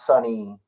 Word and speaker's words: Sonny: have the same Cadence my name is sunny I am funny sometimes rhymes with money and it's like you're